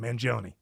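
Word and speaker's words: Mangione: Manon, that is his name, right? Luigi Manion.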